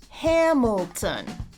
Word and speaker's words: Hamilton: Count the syllables and pick out one that is stressed. Hamilton. My name is Hamilton. Hamilton. 3 syllables and the first one is stressed.